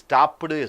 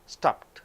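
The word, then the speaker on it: stopped: ஸ்டாப்பு, ஈடி, ஸ்டாப்புடு. ஸ்டாப்னா நிறுத்து, ஸ்டாப்புடுனா இறந்த காலத்திலே நிறுத்தி விடுவது. அங்கே ஸ்டாப்புடுன்னு சொல்கிறது இல்லை, ஸ்டாப், ஸ்டாப்ட். அந்த டீயினுடைய ஈடியினுடைய உச்சரிப்பே கிடையாது. அப்போ இங்கே ஈடிக்கு தனி உச்சரிப்பு.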